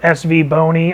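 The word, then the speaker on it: SVBONY: so I asked her exactly how do you pronounce the name of your company because I've heard SV Boni I've heard SV Bonnie and I've heard savonia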